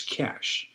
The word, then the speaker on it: cachet: a French word and it would be c a c h e t. There is no t. So, since there is no t, it's not cachet, it's cash.